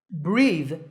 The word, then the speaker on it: breathe: of the windows here notice that the last sound is the like in the words this or that drive divers use oxygen